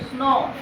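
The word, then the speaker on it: snow: ओ डब्ल्यू आता है, जब किसी वर्ड के अंत में ओ डब्ल्यू आता है तभी इसका प्रोनाउंसिएशन ओ ही होता है, कोई परिवर्तन नहीं होता। ध्यान देना, जैसे एस एन ओ डब्ल्यू, स्नो, last में आ रहा है ओ डब्ल्यू,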